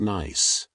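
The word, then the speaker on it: gneiss: And at the deepest levels, under the greatest pressure and heat, shist can transform into nice, pronounced nice, a beautifully banded rock where minerals have segregated into alternating light and dark layers.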